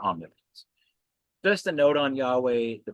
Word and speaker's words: Yahweh: But it probably really is just pronounced Yahweh. Definitely not Jehovah.